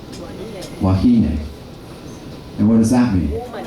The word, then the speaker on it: wahine: Remember, the E is always pronounced as hey. Wahine.